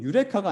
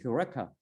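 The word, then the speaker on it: εὕρηκα: 그래서 원래 정확한 발음은 유레카가 아니고 휴레카입니다. 휴레카.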